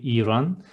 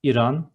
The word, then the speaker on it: İran: It is not Iran, it is İran. The first syllable is a bit long, İran.